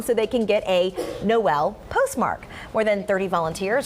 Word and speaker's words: Noel: Yeah, every year, starting the day after Thanksgiving, the town of Knoll, Missouri changes the way it pronounces the name to Noel.